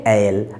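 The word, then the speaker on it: aisle: হিম leave down দা এল এখানে এ আই এস এল ই কথার উচ্চারণটা হচ্ছে এল এখানে কিন্তু এস টার উচ্চারণটা হবে না তাহলে সাইলেন্ট রয়েছে তাহলে কি বলছে তাকে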